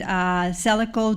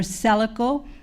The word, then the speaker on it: Selaco: And as our Mayor Pro Tem had mentioned, Celico does have a program to help local businesses affected by COVID.